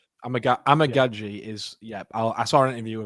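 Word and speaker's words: Amegadjie: And I went, and I'd like to thank Mitch for this because I've been pronouncing it wrong for so long. It's Kieran Amagaji, the tackle from Yale.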